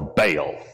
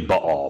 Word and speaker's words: Baal: heard you've read about Baal or bail be AAL bail it's really ball but that's okay I always heard it